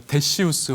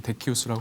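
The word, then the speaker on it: Decius: 이제 세 번째로 저희가 데시우스 황제의 박해에 대해서 생각을 해보겠습니다. 우리가 이제 일반적으로 뭐 데시우스라고도 하고 데키우스라고도 합니다. 이제 이게 라틴어 발음을 어떻게 이제 표기하냐에 따라서 데시우스 혹은 데키우스라고 하는데요.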